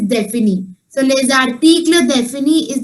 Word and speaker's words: définis: And then for saying definite articles, for definite, you have this word DEFINIS, and the pronunciation is défini.